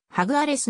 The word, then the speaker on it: Jaguares: は言語であるスペイン語の発音はハグアレスに近く公式 a 50 今日